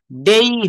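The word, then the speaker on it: day: কথাগুলো বলতে পারবো যেমন আমরা ডে বলি আসলে কি ডে হবে ডেই হবে ডেই হ্যা রেইন পেইন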